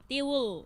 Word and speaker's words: tiwul: I love tiwul. Yeah. Okay. What? How did you pronounce it? Tiwul. Tibu. Tiwul. Tiwu. Tiwul.